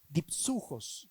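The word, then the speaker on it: δίψυχος: Doble ánimo, palabra compuesta en griego, dipsujos se pronuncia en griego y significa doble espíritu.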